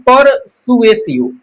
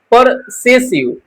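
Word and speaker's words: persuasive: इसको पढ़ते हैं परसुएसिव, परसुएसिव, परसेसिव, ऐसा भी कुछ लोग प्रोनाउंस करते हैं। तो मैंने पिछले स्लाइड में ऐसा किया, लेकिन इसको सही होगा कि आप परसुएसिव पढ़ें।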